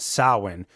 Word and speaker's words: Samhain: as Samhain, but pronounced Samhain. Phonetically, there's a couple other ways that it's been spelled out, such as SOW, as in cow, and then win, WEN. But I think of it as SAUWEN, Samhain.